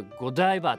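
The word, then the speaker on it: Godiva: チョコねおいしいなんかゴディバって正式になイントネーションはゴダイバって言うんでしっていうことしか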